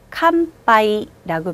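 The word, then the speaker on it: 乾杯: 캄빠이라고 발음합니다.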